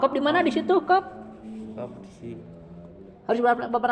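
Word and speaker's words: قاف: Qaf di mana di situ qaf? Qaf di sini. Harus berapa harkat bacanya? 6. 6 juga kan? 6. Nah, sama qaf juga. Qaf akhirnya F ya. Ya.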